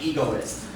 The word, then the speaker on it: egoist: down we say an egoist yeah here equals the stress on the first syllable egocentric means a person